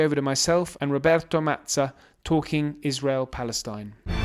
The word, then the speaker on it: Mazza: Oliver, thanks a lot first of all for the perfect pronunciations of my name which often in English is butchered into something else which I got used to but that was wonderful.